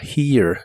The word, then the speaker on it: here: La H suena como una j suave y la primera e suena como una i larga que termina con e suave. Y la e del final no se pronuncia.